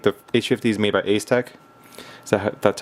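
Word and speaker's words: Asetek: I think the H50 is made by Ace Tech. That's how you pronounce it, and this one's made by Coolit.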